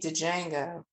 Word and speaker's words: Django: Better not be Django. No. And the D is silent, so it's.